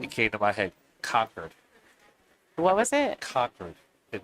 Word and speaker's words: Concord: Conquered. What was it? Conquered. It was the word. Yes, you're right. New Hampshire, they say conquered.